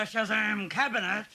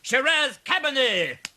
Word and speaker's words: Shiraz Cabernet: special butter are the Shazam cabinet you fool rusher it's pronounced Shiraz Cabernet Mercy Mercy I'm glad